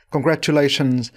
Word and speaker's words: congratulations: và bắt chức đúng giọng của người nói congratulations là một t khá khó phát âm V chúng ta thử tập nói các